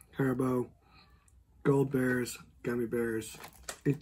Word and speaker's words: Haribo: you can I recommend the hair bow like that's how you pronounce it Haribo gold bears gummy bears